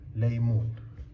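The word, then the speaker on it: ليمون: And here, you know the na ma na, sorry, la ya meem wow, noon. That's laymoon.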